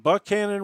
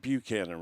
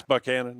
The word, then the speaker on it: Buchanan: is it is it is it Buckan Resort or is it Buchanan Resort? We pronounce it Buckan Resort and uh it it people say it both ways but around this part of the country. Yeah, it's Buckan.